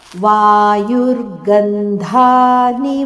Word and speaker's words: ವಾಯುರ್ಗಂಧಾನಿ: ವಾಯುರ್ಗಂಧಾನಿ ವಾಶಯಾತ್, ವಾಯುರ್ಗಂಧಾನಿ ವಾಶಯಾತ್, ಇಲ್ಲಿ ಧ ಮಹಾಪ್ರಾಣ.